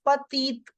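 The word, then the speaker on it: petite: keeping it silent here the last alphabet is e so I am making the complete sound of both the t's it is Pati I repeat the pronunciation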